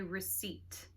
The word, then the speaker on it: receipt: Everybody say receipt. Receipt. Now you see the letter P, but it is silent. Do not say P. There's no P sound. Simply receipt.